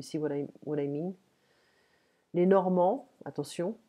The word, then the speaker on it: Normands: Les Normands, attention, on ne prononce pas le D.